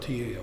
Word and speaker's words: Tao: Today's scholars spell it D-A-O. Traditionally it was spelled T-A-O. It's pronounced Tao, the Tao.